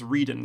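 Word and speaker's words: Rueden: It reminds me a little bit of Tim von Ruden, or I actually think I realized I pronounced his name wrong. Tim von Rieden. I think it's Rieden, not Ruden.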